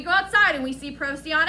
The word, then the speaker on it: Procyon: I'm pretty sure it's a soft C. Procyon. Close, I think. Procyon.